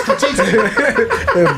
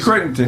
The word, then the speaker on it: Crittenton: Javarius critiquing. Barks. What's his name? Somebody said that. Somebody said Master P. What do you say it was? Javarius critiquing. Creighton. Javarius Crittenton.